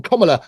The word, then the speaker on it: Kamala: And to anybody on Kamala, that's how you pronounce her name, Kamala Harris's party, come forward and confess if that's the truth.